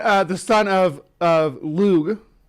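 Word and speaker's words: Lugh: son of of lug is like a g sound sort of but it's not it's not as harsh as the uh Ang angelized version of it so you want to say it like with sort of a soft G but not the not the soft G that you're used to it's like lug like at the end it's not G but it's not J either it's it's yeah that's what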